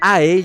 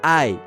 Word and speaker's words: æ: Y guías universitarias de pronunciación del inglés antiguo explican que ae, llamada ash, se pronunciaba de forma cercana a la a de apple.